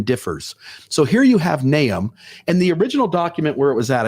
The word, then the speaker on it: Nahum: Now, it's not Nahum, like the Book of Mormon. It's Nahum.